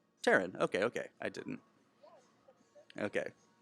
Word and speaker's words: Taryn: me because i think i said it wrong taryn okay okay i didn't okay well tearing the